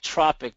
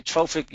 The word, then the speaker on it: trophic: Sometimes it's spelled tropic, but it's actually trophic, as it means to grow.